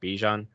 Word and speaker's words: Bijan: People have to realize that Bijan. Well, I think technically his name is pronounced Bijan.